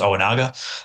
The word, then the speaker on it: Ojinaga: from the lower, and it's pronounced Owanaga, Okanaga, not right, right.